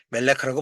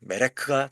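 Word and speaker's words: מלך: 멜렉크 메렉 정확하게는 메레크죠. 메레크 메레크 예 보통 멜레크라고 발음하는데 메레크가 정상적인 발음입니다.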